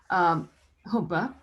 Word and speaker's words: Jhumpa: How do you pronounce? Oh, Humpa.